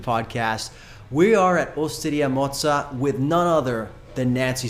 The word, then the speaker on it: Mozza: We are at Oidia Moza with none other than Nancy Silverton.